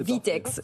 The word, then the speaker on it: VTEX: Vous êtes le directeur général France d'une société qui s'appelle VTEX. Est-ce que j'ai bien prononcé? VTEX, voilà.